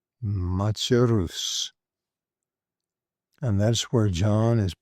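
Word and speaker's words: Machaerus: And this particular one is pronounced machus machus.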